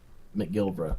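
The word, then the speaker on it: McGilbert: say your last name Mick Gilbert My Gilbert okay basically just how it's spelled gotcha yeah just a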